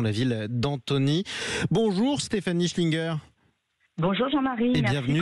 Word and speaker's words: Schlienger: Bonjour Stéphanie Schlinger.